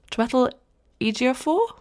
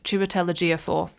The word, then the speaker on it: Chiwetel Ejiofor: and, oh no, I'm really bad with names, Twetel Ejiofor?